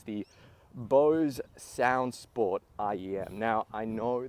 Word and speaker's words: Bose: purpose, and it's the Bose Soundsport IEM. Now, I know that as soon as you mention the word Bose, that single syllable, people get their pitchforks out.